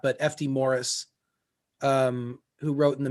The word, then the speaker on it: Maurice: or not but fd morris um who wrote in the mid-century last century its last name looks like it's written maurice but it's pronounced fd morris and he he was